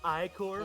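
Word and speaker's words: ichor: 1, Actually, 2, 3, it's pronounced Icor.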